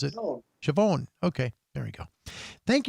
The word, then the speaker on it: Siobhan: Oh, and I'm Siobhan, excuse me, so Siobhan, excuse me, in case you have no idea how to pronounce it. Siobhan.